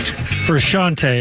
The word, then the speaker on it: Frusciante: Frusciante is how you pronounce it. You probably know this song. Frusciante, is it?